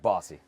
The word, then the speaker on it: Bossy: Rhymes with saucy. Saucy. Mike Bossy.